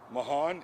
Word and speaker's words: Mahan: say his name yes his name is kevin mahan m-a-h-a-n he's a white male 43 years of